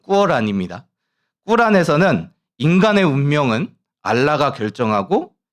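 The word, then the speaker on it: Qur'an: 우리 보통 코란이라고 부르는데 정확한 발음 꾸어란입니다.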